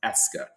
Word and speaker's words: est-ce que: I know it looks very robust but it is simply pronounced "est-ce que".